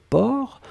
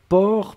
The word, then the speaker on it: porc: même pas nécessaire et la dernière chose c'était port alors souvenez-vous que port on ne prononce pas le ces finales d'accord mais on doit quand même l'écrire donc vous écrivez p o r c'est d'accord donc port per c'est le sait finale n'est pas prononcé